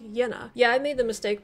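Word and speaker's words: Jena: so kurt septon says in german the letter j is pronounced the english letter y so jenna is pronounced yenna yeah i made the mistake by calling it jenna in the last video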